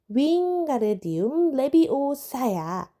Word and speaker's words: 윙가르디움 레비오사: 그다지 운이 따르지 않았다 윙가르디움 레비오사 로니 긴팔을 풍차처럼 휘두르며 소리쳤다 주문이 틀렸잖아 헤르미온느가 쏘아 붙이는 소리가 들렸다 윙가르디움 레비 오사야 가르르 제대로 길게 발음해야 그렇게 잘랐으면 내가 한번